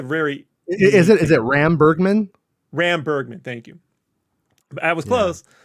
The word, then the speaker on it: Ram Bergman: Ram Bergman. Thank you. I was close. So I'm always good with the syllables.